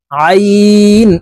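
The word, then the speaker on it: عين: জ আলিফ জবর জ আইন আলিফ জবর আইন হরফকে হালকের মধ্যখান থেকে চাপ দিয়ে উচ্চারণ করতে হবে কারণ আইনের মাখরাজ হালকের মধ্যখান থেকে হবে আমরা অনেকেই এই আইনের উচ্চারণ সঠিক ভাবে উচ্চারণ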